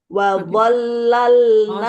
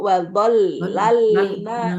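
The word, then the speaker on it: وظللنا: Bu Rini itu yang wazollal itu kan lamnya ada tasjid ya bacanya itu wollalna seperti dua nggih. Iya. Heeh. Ee ini kan dua dulu ya Bu. Ditekan dulu. Wadollalna.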